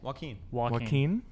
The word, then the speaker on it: Joaquin: a young Joaquin Phoenix that's how I say his name okay Joaquin Joaquin like he's walk in here walk in here yeah yeah walking so sure but